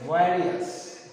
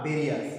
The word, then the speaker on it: various: এখন ডটের মধ্যে তুলে দিই, ইউজড ফর ভেরিয়াস purposes, উচ্চারণ হবে ভ্যারিয়াস, নট ভেরিয়াস। ভেরিয়াস ইটস not correct উচ্চারণ, এটা কারেক্ট উচ্চারণ নয়, তাই তোমাদের অবশ্যই এটাকে বলতে হবে ভ্যারিয়াস।